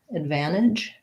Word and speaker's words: advantage: advantage advantage i would i probably wouldn't use a flap there i would either advantage leave it off um which um a lot of times americans will leave that t sound out often words like internet